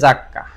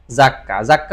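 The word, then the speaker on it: 雑貨: এরপরে আমরা যেটা দেখতেছি এটা হচ্ছে ফুকুশোকু জাক্কা, এই শব্দটার উচ্চারণ হচ্ছে জাক্কা, এই শব্দটার উচ্চারণ কি জাক্কা হচ্ছে অ্যাকসেসরিজ, জাক্কা কি বিভিন্ন রকমের সামগ্রী, আর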